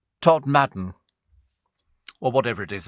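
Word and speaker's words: Todmorden: Apparently, says Danny, Steve, Todd Morden is pronounced Todd Madden.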